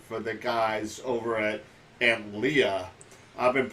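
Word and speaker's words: Antlia: the guys over at Aunt Leah. I've been pronouncing it wrong. I've been pronouncing it Antilla. So it's okay. I did the same thing. It's Aunt Leah.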